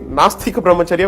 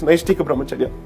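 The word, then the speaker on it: Naishtika Brahmacharya: in this country or half the people at least in most places can't even pronounce this particular thing properly in fact in in the court most of the time I heard people calling it masta compromise area when in fact it's nice tika brahmacharya they turned it to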